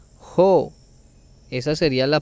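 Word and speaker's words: ὁ: Recuerde que esta palabrita tiene espíritu fuerte, por eso se pronuncia jo.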